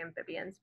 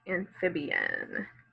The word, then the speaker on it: amphibian: Amphibian. Let's see. That A sound. Fib, that short I sound. En. So that I is making a long E sound, and the A is making a short A sound. So if you've underlined your vowels, you should have something that looks like this. We've got 4 syllables in the word amphibian.